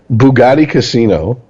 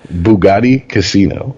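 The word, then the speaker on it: Boogotti Kasino: Bugatti Casino. Let me spell it for you. B-O-O-G-O-T-T-I. Yeah, I was going to say, is it racist if I ask you to spell it? K-A-S-I-N-O. Bugatti Casino.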